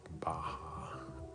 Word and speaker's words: Baja: so that's also maybe all California is it's pronounced Baja oh it's a part of Mexico oh this